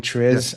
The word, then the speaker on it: TRIZ: T R I Z is what we're pronouncing Tris.